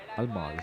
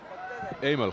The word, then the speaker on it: Aimal: Almal, is it? Is that the way you pronounce the name? Aimal Khan. Aimal Khan. Aimal. So the L's silent, is it? Aimal. Aimal. So it's A-I.